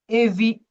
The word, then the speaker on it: évitent: Evite. The ENT Evite. is not pronounced because this is a verb.